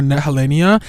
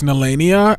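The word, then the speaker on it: Nehellenia: for so many weeks I was saying calling her helenia and I think that name is so beautiful though even though it's nania I think that's a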